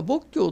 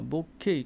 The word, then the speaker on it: 墨郷: 牧渓君、これ多賀牧教というのが普通なんですけども、仏教と書いてるんですけど、私は仏慶と読んでおります。どちらでも良いです。